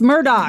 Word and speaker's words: Murdaugh: what I'm saying Murdock it's Murdoch yeah the the murdocks Eli Murdoch or whatever the he pronounce Murdoch elck Murdoch no it's Alec she says she says El because of her accent but it's Alec it's Alec Murdoch go ahead so like one